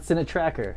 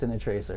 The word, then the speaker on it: Cine Tracer: That's how you say it. It's not Cinetracker, it's Cinetracer.